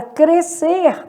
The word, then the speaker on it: crescer: No caso de crescer, há dígrafo. O S e C estão formando dígrafo, né? Então, apenas o som da letra C é emitido.